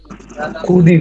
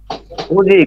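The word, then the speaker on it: 굳이: ই লিখি কি হবে খুদি খুদি খুদি খুদি খুদি কিন্তু মনে রাখবেন এই দ্বিগুতের পরে দ্বিগুত প্লাস ই আসে তাহলে এই উচ্চারণ জ হবে কি হবে জ এখন খুঁজি খুঁজি খোঁজি উচ্চারণ হবে খুঁজি গুড এই যে পড়তেছেন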